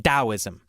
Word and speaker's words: Taoism: I don't know why why didn't we just spell it with a d I don't know it